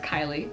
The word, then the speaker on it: Kylea: My name is pronounced Kylie.